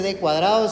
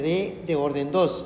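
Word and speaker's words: D²: d a la 2 no se dice d cuadrado sino que d de orden 2 es la forma correcta y se lo está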